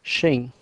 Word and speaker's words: Xing: just for your information the closest English pronunciation of my last name is Shing in this presentation we